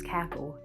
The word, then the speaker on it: CACL: co-assistant crew leader, and it's spelled CACL, and I was like, that's cackle.